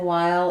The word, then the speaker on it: while: And then the H is silent in while. It's just the W sound. So you might write it like while. Same as the first part of the word wild.